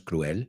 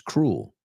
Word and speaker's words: cruel: Acuérdate, en inglés la E no se pronuncia, no es cruel, it's cruel, cruel.